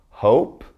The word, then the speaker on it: hope: Long vowel I with a silent E. So listen to me as I say these. We've got plain, time, cape, hope, tube, bite, cute, and ripe. Never did I say the E because it's silent.